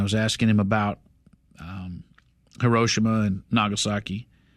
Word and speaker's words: Hiroshima: asking him about um hiroshima and nagasaki is it hiroshima or hiroshima chad hiroshima i'll never say it like you do sorry i'll try nagasaki